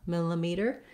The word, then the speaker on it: millimeter: it mill that vowel then this next letter i is going to say a schwa it's going to sound like uh that's because the second syllable is unstressed miller millimeter you might see it also written as an in the dictionary but it's going to be a a very short reduced e sound so it doesn't matter